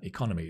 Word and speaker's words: economy: The economy is going well. Notice the stress.